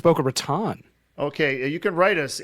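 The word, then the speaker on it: Boca Raton: to boka ratan Flora is it a boa Ron isn't that how you say it I thought it was boa Raton okay you can write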